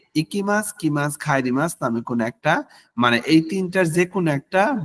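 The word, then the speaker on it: へ: উচ্চারণ করি তাই না তবে যখন এটি বাক্যে পার্টিকেল হিসেবে ব্যবহৃত হয় তখন এটি এ হিসেবে উচ্চারিত হয় যখন কোন বাক্য ইকিমাস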